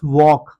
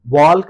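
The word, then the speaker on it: walk: अब इसे हम वॉल्क नहीं पढ़ेंगे। वॉल्क एल की साउंड नहीं इसको देंगे। इसको एल को साइलेंट रख के पढ़ेंगे तो बन जाएगा वॉक।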